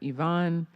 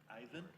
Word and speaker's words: Ivan: Next, we have Yvonne, followed by Dom, Hampson, Anitra, Oren. Ivan? Sorry, I gave you. I was French with it.